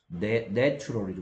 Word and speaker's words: natural: 이거는 단어할 때 A의 발음이 달라진다. 이런 설명한 적이 있습니다. 여기에 보면 A의 발음이 요 발음 기호인데 이렇게 A로 돼 있죠. 근데 이렇게 됐을 때는 발음 기호로는 이렇게 쓰고요. 뭐 굳이 한글로 쓰면 이런 발음입니다.